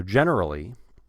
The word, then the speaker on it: generally: reading this sentence so generally generally gender now here the r is after an N generally generally generally generally ner just say ner ner and this is one